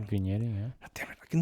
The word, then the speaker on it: vignetting: what it can do is it can create minetting. Have I pronounced it right? Vignetting.